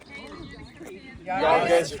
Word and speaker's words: Llagas: It's Llagas. So Spanish, Llagas.